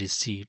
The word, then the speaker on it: receipt: Well, it is pronounced as receipt. So obviously option B P the letter P is silent in receipt.